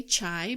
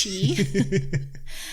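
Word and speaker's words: chi: ER and CH I some people say chai but it's cheap and that's that's how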